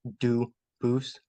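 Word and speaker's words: Dubois: I know a family with that same exact spelling in American. They do pronounce it Dubis, but you said you pronounce it Duce as the original Duboose as the original French.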